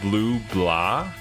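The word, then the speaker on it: Bleublanc: It's pronounced like blue blah, with slight nasality on the A.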